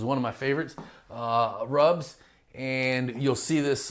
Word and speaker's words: RUBS: moving on so now let's talk about uh rubs resident utility billing systems is one of my favorites uh rubs and you'll see this spelled r u BS